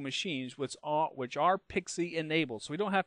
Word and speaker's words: PXE: must be pxe enabled that's pronounced pixie by the way and pixie is basically